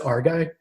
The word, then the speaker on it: Areguy: say your last name is it just our guy yeah yeah phonetically just like that cool that's amazing welcome